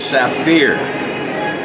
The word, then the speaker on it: Saphir: When you get out of this country, they go to a product called Saphir. Spelled like sapphire, but it's pronounced Saphir.